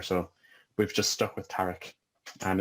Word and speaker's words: Tariq: speaks Arabic here, but technically it should be pronounced like Tariq, but just the terrible, not terrible, but you know, the butchered attempts that I've heard throughout the years, I've kind of just said Tariq it is.